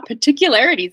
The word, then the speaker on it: particularities: it has two r's you might notice people don't really say the first one not like oh particular it's like particular right particular so you can get away with particular if you want particular oh that's particular